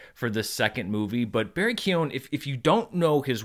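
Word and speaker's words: Barry Keoghan: name a lot in the next few years, Barry Keown. And I've never known how to say his name. I had to look up I finally found a radio interview. Barry Keown, who is apparently our next Joker, which I'm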